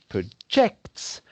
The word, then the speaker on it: project: when is the noun the emphasis is on the first syllable rather than on the